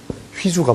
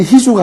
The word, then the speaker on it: 휘주: 근데 이게 발음에 보면 이게 복모음이니까 모음이 이렇게 겹쳐 있으니까 발음이 안 쉽죠. 그죠? 그러니까 희주보다 휘주가 발음이 어렵잖아요. 그죠?